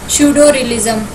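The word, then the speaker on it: pseudorealism: Answer है यहाँ पे श्यूडोरियलिज्म। ठीक है, पी साइलेंट है यहाँ पे, श्यूडोरियलिज्म बोलते हैं इसको।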